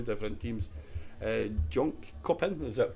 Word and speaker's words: Jönköping: Jönköping, is that pronounced? That's right, it's called Jönköping, that's yes.